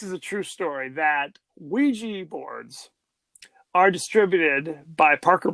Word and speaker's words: Ouija: yah we okay because it's not IG it's it's Ouija it's Ouija it it's it's yes in French yes in German it's a yes yes